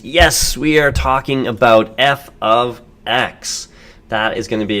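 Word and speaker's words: f(x): This is pronounced f of, oops, not or, f of x.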